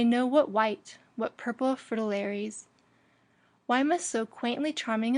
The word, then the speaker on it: fritillaries: it must be pronounced with the accent on the first syllable and not the dictionaries